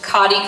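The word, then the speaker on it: Cottey: armenta all right and next up this is pronounced cotti college and it is cotti college scholarship and it is also presented to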